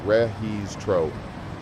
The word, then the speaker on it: registro: Check-in is registro, pronounced rehees tro. In some countries, you might also hear the English term check-in used, but registro is the proper Spanish term. The G in Spanish makes a hard h sound when followed by I or E.